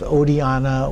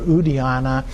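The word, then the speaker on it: Oddiyana: And then the miraculous birth, he was said to have been born in the land of Odiana or Udiana. It has slightly different pronunciations, slightly different names.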